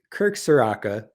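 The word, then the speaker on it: Kirk Ciarrocca: So it's Kirk Soraka.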